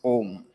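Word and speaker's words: ॐ: Auma, Auma, Auma, Auma. If you do it fast, it becomes Om.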